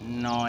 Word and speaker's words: know: Pronunciation of KN, ন এর ব্যবহার, ন কোথায় কোথায় ব্যবহৃত হচ্ছে।